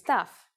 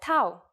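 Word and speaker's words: ταυ: with them our first letter this time is tough it's a consonant and its sound is you may have heard it called Tau which is its usual name in English I'm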